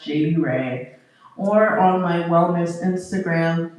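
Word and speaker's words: Jadeyyrae: Um, it is J A D E Y Y R A E and it's pronounced JD Ray.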